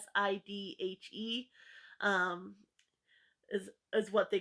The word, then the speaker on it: Sidhe: called fairies, and I don't know how to pronounce it. It's Sidhe.